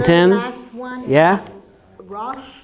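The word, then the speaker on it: ראש: Rosh. Rosh is yes, correct. Excellent. Beautiful. Rosh. What is silent in that word? The Aleph.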